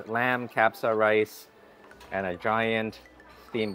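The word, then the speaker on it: kabsa: try this is lamb trying to pronounce that right but I think it is pronounced capsa rice lamb capsa rice and a giant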